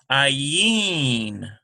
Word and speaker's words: Ayin: So now we have another silent letter. Ayin.